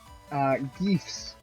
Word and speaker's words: GIF: Or is it GIFs? It's only GIFs if you want to piss people off. I think it's pronounced Gifs. Ah, yes. I've also heard it pronounced Geefs. You must have the Geef.